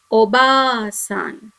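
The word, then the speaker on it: おばあさん: in this example here we have ba with the letter r so you have to read it as long ba sound that is ba so you have to read the word as obasan obasan that is grandmother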